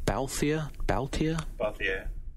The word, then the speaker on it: Balthier: How do you pronounce this guy's name? Balthier.